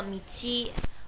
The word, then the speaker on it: 道: 读作一个米七。米七，第一个字是咪，第二个字是七，就是七八九的七。